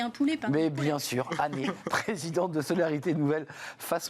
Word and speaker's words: Hanet: Merci à Annette, je l'ai bien prononcé. Et non. Et c'est Année.